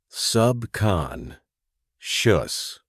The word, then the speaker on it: subconscious: Pronunciation. Subcon. Shus.